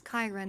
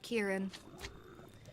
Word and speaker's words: Kiran: to let you know the name is Kiran not Kieran oh Azaria was not